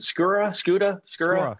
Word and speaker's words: Skura: And the inside guys, you know, Billy Price, Hernandez, the kind of, you know, they're is it Skura? Yeah, you got it. Skura. I always get his name wrong.